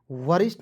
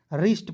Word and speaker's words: wrist: उसके बाद WRIST वरिष्ठ नहीं पढ़ेंगे, देखिए इसे रिष्ट पढ़ेंगे, ठीक है, वरिष्ठ नहीं पढ़ना है, W को साइलेंट करना है दोस्तों, इसे पढ़ेंगे दोस्तों रिष्ट।